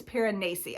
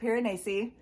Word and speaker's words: Piranesi: Apparently it's the correct pronunciation. Everyone says Piranesi. That's not it. It's Piranesi. I looked up the pronunciation just to set the record straight.